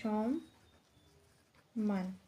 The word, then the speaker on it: সম্মান: সাথে থাকা অবস্থায় সম্মান সম্মান এখানে ম এর উচ্চারণটা হবে সমান তারপর রয় যুক্ত রয়েছে এমন শব্দ হতে পারে